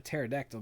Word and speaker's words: pterodactyl: Why can't you hear a a pterodactyl going to the bathroom? See, Mike knows this one. I don't know this one. Because the P is silent.